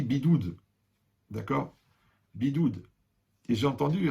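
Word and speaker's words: בידוד: Alors, vous savez, en résumé, ouais, en hébreu, le confinement, ça se dit bidoud.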